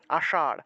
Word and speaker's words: আষাঢ়: আষাঢ়, আষাঢ়, আষাঢ় মাস আছে না, আমরা তো আষাঢ় তালবস্য উচ্চারণ করে ফেলি, এটা আষাঢ় হবে না, এটা হবে আষাঢ়, আষাঢ়।